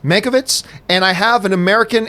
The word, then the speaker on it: Mankiewicz: intro by Ben Men I always mispronounce Ben's last name mankiewicz Michael it's Mei covets and I have an